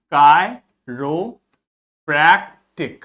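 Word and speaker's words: chiropractic: जब भी आई के ऊपर आपको इस प्रकार से कैप लगी दिखेगी तो इसका प्रोनाउंसिएशन आई होगा, और जब कोई कैप नहीं लगी दिखेगी तो उसका प्रोनाउंसिएशन ई होगा। ठीक, तो ये हो गया कायरोप्रैक्टिक।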